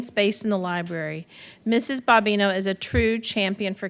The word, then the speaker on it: Bobino: Sterling Middle School, Courtney Bobino. I practiced that last name, and I think it's actually Bobino. Thank you. Let me pronounce that again. Bobino.